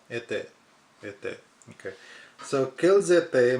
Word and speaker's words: était: Était is A-I is pronounced A. Était. Était.